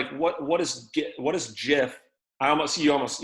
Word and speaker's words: GIF: creator of the gif said that it's pronounced jif but either is acceptable because it's amazing graphics